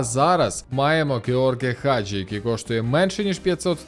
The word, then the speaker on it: Хаджі: грнь відат георгі хаджі Ми кажемо хаджі але я чув що румуни кажуть хаджі Тож де ж істина у Вікіпедії правильно Вікіпедія теж пише що наголос на А хаджі ну що волкаут легенду